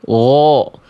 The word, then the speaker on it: غ: Jadi, huruf ghain itu kenapa dia ketika berharakat fathah itu terdengar seperti vokal o? Karena dia huruf tebal.